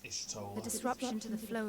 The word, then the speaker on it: Y'shtola: Pronounced Ishtola.